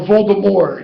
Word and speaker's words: Voldemort: The name Voldemort, or Voldemort, if you want to pronounce it, like a Frenchie would.